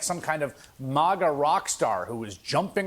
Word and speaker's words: MAGA: Like it's a hard A, you know. MAGA, like it's the easiest thing to pronounce.